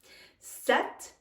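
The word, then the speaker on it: sept: very different pronunciations sis stepped the P is silent here wheat the ages silent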